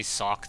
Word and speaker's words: Socke: of the match um some people say my German pronunciation of zet is all right but apparently a lot of you guys out there are like don't even try to say it just pronounce sock like the thing on his foot um trying to give